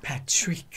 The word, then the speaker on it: Patrik: Well, just to clarify though, Patrick, if you say it like Patrick, Patrick, it does sound French. Patrick. It does sound French though. Patrick. No, no. I mean, German would be like Patrick. That's German.